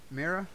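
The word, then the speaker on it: Mera: But there was one particular scene where both Arthur and Mira, Mira? Yeah, you're pronouncing it right.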